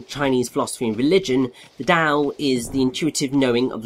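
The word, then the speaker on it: Tao: Troopers interesting so um TA or da as it is actually pronounced uh is a Chinese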